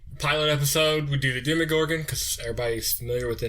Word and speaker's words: Demogorgon: name of this creature it almost sounds like dim me gorgeous when you say most people